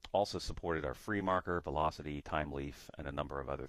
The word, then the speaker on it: Thymeleaf: And actually, if you want to learn more about it, it's just type in TimeLeaf. Make sure you spell it like thyme, the spice.